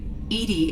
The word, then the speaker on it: EDI: are you named Edie Edie is the phonetic pronunciation of EDI that is an acronym for enhanced defense intelligence so what did you